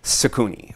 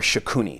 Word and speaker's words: Shakuni: So in this tense, what we have is a specific character known as Sakuni or Shakuni, depending upon how you want to pronounce it.